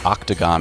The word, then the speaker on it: octagon: The O in octagon is pronounced ah.